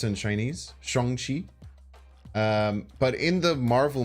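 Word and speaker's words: Shang-Chi: it's pronounced Sean is the correct way to pronounce it in Chinese Shong Chi um but in the Marvel movie uh Shong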